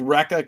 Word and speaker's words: Recca: It is called Recca Comics, and it is pronounced just that way.